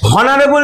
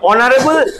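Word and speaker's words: honorable: তাহলে এগুলো একটাও হনেস্ট নয়, অনেস্ট, হনারেবল নয়, অনারেবল, আর হাওয়ার নয়, আওয়ার।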